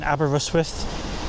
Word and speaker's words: Aberystwyth: Today we're going to be exploring the stunning Abbera Rusworth. Yes, that's actually how you pronounce it as a local or its nickname, Abba.